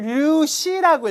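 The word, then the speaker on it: 粒子: 중심은 입자를 류시라고 읽어요. 류시 입자.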